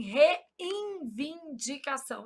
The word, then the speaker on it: reivindicação: Só para eu gravar que não existe N aqui. Qual que é o problema? A gente nasaliza esse N pronúncia. a gente fala assim, reivindicação.